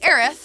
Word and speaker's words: Aerith: You could say Arieth and you can say Aeris.